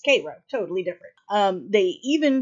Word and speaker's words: Cairo: Cairo yes it is but I promise you as someone who has lived in this part of the country near Koo Illinois most of my human existence I promise you it is pronounced Koo I don't know why it just is but she appears on